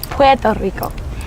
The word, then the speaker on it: Puerto Rico: And I think the correct way to say it is Puerto Rico.